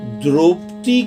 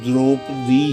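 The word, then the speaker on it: द्रौपदी: से द्रोपती को जगाया dhruvti कहते हैं पंजाबी में असल में लड़ती थी तो उसका सही उच्चारण दुरूप दी है और मुंह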